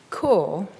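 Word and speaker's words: Kôr: Core, exotically spelt with a circumflex over the O, sounds like the core of something, and indeed in the story it inspires yearning to reach it, an ultimate elsewhere.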